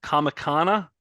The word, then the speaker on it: Comicana: wrote a book called the Lexicon of uh comicana am I pronouncing that correct oh yes are you guys